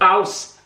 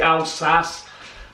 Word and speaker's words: Alsace: think it is, with Alsace. I say Alsace, but the proper pronunciation is Alsace. They have the Z.